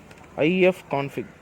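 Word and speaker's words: ifconfig: for it just how to say it is IEF config command just put I have conflict sudo yeah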